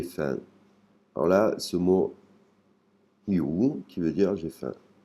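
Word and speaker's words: หิว: La prononciation et l'intonation est un peu particulière. H parce que la première lettre, c'est la lettre hip. Il faut arriver à faire sortir le l'air de la gorge.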